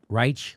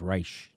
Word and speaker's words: Reich: robert reich robert reich reich reich robert reich i've been saying it wrong it's reich not reich obama's justice department grants